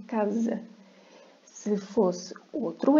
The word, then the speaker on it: casa: Nada de dizer à espanhola caça, é casa. Um S entre 2 vogais vai ter o som de Z, casa.